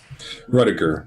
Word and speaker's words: Rudiger: Rudiger. Rud. Yeah. Like Dud. Like Ashley Judd.